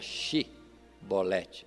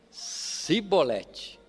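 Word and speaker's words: Chibolete: nossas palavras, é que quem era da tribo de Efraim não conseguia pronunciar a palavra Shibolete, com C-H-I, Shi. Observe que entre as tribos já havia algum dialeto, alguma mudança de linguagem. Eles não conseguiam falar Shibolete, mas só Sibolete.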